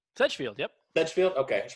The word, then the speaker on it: Sedgefield: Sedgefield? Sedgefield, yep.